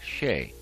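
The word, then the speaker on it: Chelly: h e l l y but it is pronounced sheay and this is uh someplace new for us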